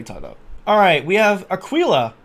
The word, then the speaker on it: Aquila: Alright, we have Aquila, I think is how you say it, with Jewel and Scry.